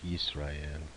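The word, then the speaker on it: ישראל: haven't learned yet, but in Hebrew you would really say Israel, like Yisrael.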